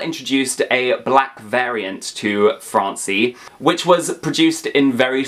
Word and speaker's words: Francie: Barbie's mod earn cousin Francie I feel like I have to say it like Fran fancy not Francie Francie anyway she was